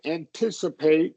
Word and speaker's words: anticipate: It is going to be a wide A. Anticip- anticipate. Okay. And so stress is on I thought it was It's on the second one, anticipate.